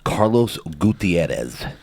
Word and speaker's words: Carlos Gutierrez: I've been waiting for this one, Carlos Gutierrez. How was that pronunciation?